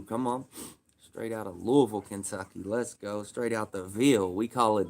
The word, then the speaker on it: Louisville: Straight out of Louisville, Kentucky.